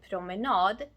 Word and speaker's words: promenad: For example, en promenad becomes promenader because suffix nad is stressed.